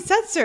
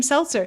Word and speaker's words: Setzer: Why didn't they Brian's- get Brian Setzer? And people are mispronouncing his name Seltzer.